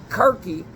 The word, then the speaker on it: Circe: But they win because these pastors in these satanic demon churches, Circe is the word. Kirke, Circe. Mother Circe, C-I-R-C-E. It's spelled K-I-R-K-E.